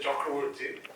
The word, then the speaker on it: Chakravarty: first heard about Mr chakroti in Bengali we pronounce it chakraborty I was very intrigued